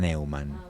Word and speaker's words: Neuman: Nosotros en mi familia lo pronunciamos a la castellana, Neumann, para no complicarnos.